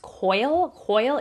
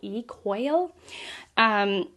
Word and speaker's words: Quoyle: I think it's actually pronounced Coyle, even though it's Quoyle, Coyle, who, you know, it's just, he's kind of an odd person.